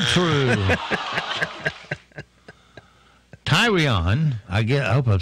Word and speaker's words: Tyrion: Tyrion, I hope I'm saying that right. Tyrion, I think.